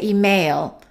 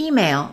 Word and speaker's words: email: The first syllable is stressed. Some people make a mistake and they say email. and it's supposed to be email.